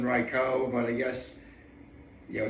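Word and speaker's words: Raikou: But and yes, I'm very well aware that I've been changing the the the pronunciations of Raichu throughout the video so far. I mean, I've heard Raichu more than Reicho, but I guess, you know, it's made of Tomato.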